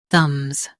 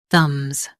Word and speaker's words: thumbs: The B is silent. thumbs thumbs Focus on the and keep m's quick.